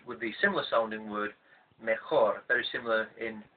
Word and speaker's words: mejor: the similar sounding word mejor, very similar in spelling and also in pronunciation. But due to the fact that the guttural sound of the Spanish J doesn't exist in English, then our brains feel